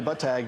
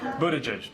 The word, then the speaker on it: Buttigieg: It's not "Budda-edge," it's not "Bood-a-jay," and it's definitely not "Butt-Tag."